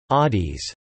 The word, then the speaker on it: ades: They greet each other with aids pronounced Adis.